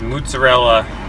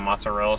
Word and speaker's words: mozzarella: Can I have some mozzarella sticks? No, it's mozzarella. Not mozzarella, mozzarella.